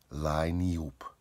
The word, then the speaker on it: Lineup: Its planet was called Liniup, spelled lineup, but pronounced Liniup.